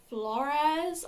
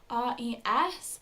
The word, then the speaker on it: Flores: were accompanied by Paul Flores. I think that's how you pronounce it. It's Flores. So that's just how I'm going to pronounce it for the rest of the video.